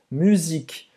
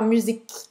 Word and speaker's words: musique: Então você vai abrir um pouquinho a boca para sair o resto do som, musique. E às vezes a gente acha que parecia um A, mas na verdade não é, né? É só o final da pronúncia.